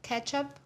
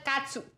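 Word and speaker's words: catsup: ketchup a lot and we don't call it ketchup ketchup what do you say ketchup we call it katup really we spell it with a c so I'm adding the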